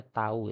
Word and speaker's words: tau: Nah, simbol ini tuh bacanya tau ya, bukan t.